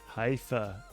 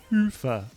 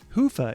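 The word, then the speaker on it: Hyvä: talk Commerce is sponsored by hia or as the Europeans say hoofa or the right way to say it hoofa is rapidly becoming the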